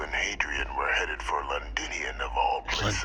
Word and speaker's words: Londinion: hadrien were headed for linian of all places linian that's how you pronounce it I presumed you must